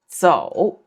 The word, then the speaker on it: 走: It's 走. Third tone, 走.